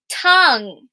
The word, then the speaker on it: tongue: did you see it tongue remember that you and E is silent only here tongue that